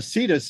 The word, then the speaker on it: Cetus: the hell do we i've heard seti seti okay and yet uh cetus is how you pronounce the longer version it's just uh south